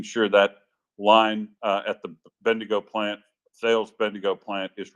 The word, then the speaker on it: Bendigo: that they said Mandingo they pronounce bendingo like it's a uh it sounded like a racial slur or something when I first heard and then I thought oh they're talking about Bendigo Bendigo yeah so uh yeah